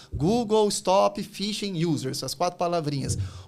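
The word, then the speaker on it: phishing: Eu brinquei pro Rafael aqui, o pessoal que aplica fishing, que não é fishing de pescar, por mais que pronuncia, tem um P no nome.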